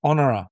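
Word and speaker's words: Honorah: Honor. Honor.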